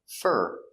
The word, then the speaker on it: for: For is not stressed, so we pronounce it fur, fur. Not for, but fur.